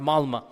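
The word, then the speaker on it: Malmö: And in Stockholm, if you have 10% Muslim, I was in the city of Malma. Malma is it's it's spelled with an O but it's pronounced Malma.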